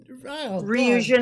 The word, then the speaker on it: Ryujin: Ryujin, I think that's the one that I told you. The RYU. Yeah. Ryu from Street Fighter, Jin.